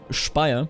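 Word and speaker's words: Speyer: a rivalry there with spire not spy I'm I'm German I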